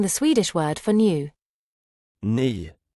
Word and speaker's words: ny: The letter Y is pronounced like the E in weak but with rounded lips. Have a go at saying the Swedish word for new. Ni. Ni.